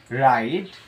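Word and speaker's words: wrong: সম্পূর্ণ হিসল বা শীষ ডবলিউ এর পর যদি আর থাকে সেই ক্ষেত্রে ডবলিউটি সাইলেন্ট থাকে অর্থাৎ ডবলিউর পর যদি আর থাকে এখানে ডবলিউ আমাদের সাইলেন্ট থাকে অর্থাৎ ডবলিউ এর উচ্চারণ হয় না এরকম আমরা পাঁচটি এক্সাম্পল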